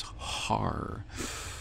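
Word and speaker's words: הר: And that word is Er, E-R, Er. Of course, most people who believe in the Masoretic coding of the Hebrew scriptures would pronounce it as Har.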